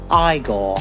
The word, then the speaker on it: Igor: Now it's pronounced Igore.